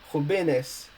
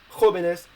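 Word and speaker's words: jóvenes: in the plural form because if you don't do so the plural form would be pronounced robenes and obviously we want it to be pronounced hobeness as the same for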